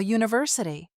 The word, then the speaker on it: university: For example, a university because it sounds like you.